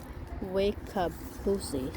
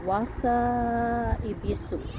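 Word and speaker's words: Wakaebisu: And then we have Mr. Wakabusi, something like that. Wakabi. No, let me say it right. Waka Ibisu.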